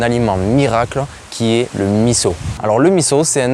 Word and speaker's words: miso: Une petite chose, ça s'écrit miso, mais ça se prononce miso.